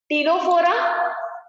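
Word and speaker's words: Ctenophora: तो सीलेंटरेटा के बाद टीनोफोरा, सी साइलेंट रहेगा, टीनोफोरा फाइलम।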